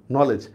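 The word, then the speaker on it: knowledge: এন কে এন ও এইটা ঠিক আছে, এল ই এটা ঠিক আছে, কিন্তু দেখেন তো স্যার এই যে ই যেটা আছে, ইর উচ্চারণ তো হচ্ছে না। আমরা কি নলেজই এটা বলতেছি না নলেজ?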